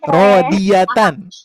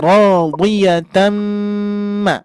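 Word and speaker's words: رَاضِيَةً: Maka Ibu Bapak jangan membaca rodi, rodiyatan. Nah, bukan rodi ya. Rodi, rodi, gitu ya. Maka dibacanya radiyatan.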